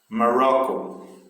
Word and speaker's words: Morocco: Morocco. Então, raw, né? Tem mais força.